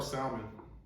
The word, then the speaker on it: salmon: L is silent.